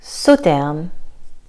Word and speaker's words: Sauternes: Sauternes, le S ici est silencieux. Donc pas Sauternes, Sauternes, Sauternes.